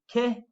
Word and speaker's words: che: you were like with ke tipo say i'll say that one again notice i'm not saying chair tipo it's k c h makes a k sound and k tip will